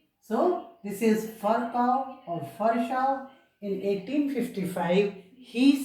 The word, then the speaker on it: Virchow: of this scientist is Virchow or Virchow. This V, it is pronounced as F. So this is Virchow or Virchow.